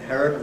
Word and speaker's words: inherent: All the same, so people tend to say ‘stereo’ and ‘inherent’ rather than the older and .